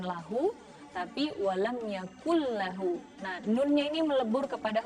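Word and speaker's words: يَكُن لَّهُ: Nah, nun tanwin bertemu dengan lam, kemudian ada tasydidnya, walam yakul lahu. Jadi bukan walam yakun lahu, tapi walam yakul lahu.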